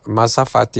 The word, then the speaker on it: mazafati: Mazafati is spelled m a z a f a t i. That's mazafati.